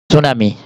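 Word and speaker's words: tsunami: ভাঙ্গন চার এরপর হচ্ছে সুনামি টি এস ইউ এন ও এম ওয়াই এম আই সুনামি টি বানান উচ্চারণ হবে কিন্তু মানে টি বানানে থাকবে উচ্চারণ হবে না সুনামি বানানটা দেখো সুনামি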